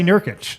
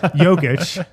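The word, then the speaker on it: Jokić: He didn't say Nerkich, so he said Yogic.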